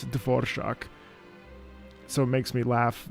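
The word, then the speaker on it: Dvořák: bastard for mispronouncing it I know how to pronounce dvor shock so it makes me laugh very hard that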